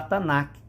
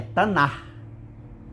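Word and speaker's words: Tanakh: dos alunos para você não falar tanac não é tanac é tanar é tanar aquele que ele não é pronunciado você puxa na garganta tá tanar E aí eh você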